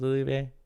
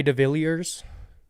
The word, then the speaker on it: de Villiers: How do you say his name? Is it Delivier? It's Jay de Villiers. That's how you say it in the country.